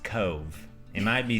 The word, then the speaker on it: Cobh: the prettiest one we've seen and it is pronounced "Cove" it might be spelled Cobh we found out yet another Ireland pronunciation the hard way we said "Cobb" quite a bit yeah so after the Titanic